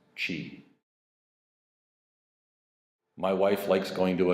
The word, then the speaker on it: Qi: a wireless charging case it's spelled Qi it's pronounced Qi my wife likes going to a Kia she